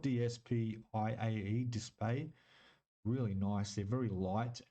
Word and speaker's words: DSPIAE: It's It's spelled DSPIAE, display.